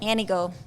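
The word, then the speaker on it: Antigo: Anigo. T is silent, heavy on the O.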